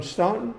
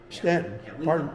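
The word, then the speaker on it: Staunton: From Stuntton. From Stanton. Stanton. Pardon my pronunciation.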